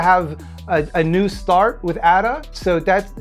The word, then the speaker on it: Ada: Like, they named their goat baby Ada after a child they lost. And yes, it's Ada, not Ada. They're Icelandic. They pronounce it Ada.